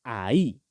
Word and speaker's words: ahí: Este ya se pronuncia ahí, ¿listo? Miren que tiene tilde en la I, por lo tanto que tenemos que hacer el énfasis ahí, ¿listo? Entonces miren que ahí lo hice.